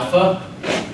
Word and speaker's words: alpha: on page two I'll Alpha Al and that's going to be an a like Father beta it's a bu